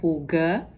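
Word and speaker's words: hygge: Jadi tulisannya H gge tapi dibacanya huga.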